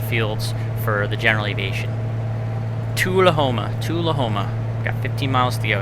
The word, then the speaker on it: Tullahoma: Or Tullahoma. That's right. It's not Tool. It's Tull. If we watched the video and I already forgot, this is terrible. Tullahoma.